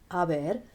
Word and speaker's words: haber: Remember that the H is silent in Spanish, so this looks like he has ha, but remember, we don't say the H in Spanish.